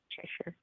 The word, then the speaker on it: Cheshire: How do you pronounce his name? Cheshire.